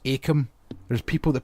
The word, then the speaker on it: Akam: And also, it's pronounced Akam. There's people that pronounce it Inkum.